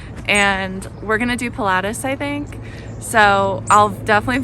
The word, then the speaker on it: Pilatus: you can go up there's regy and then Pilatus and we're going to do Pilatus I think so I'll definitely Vlog that tomorrow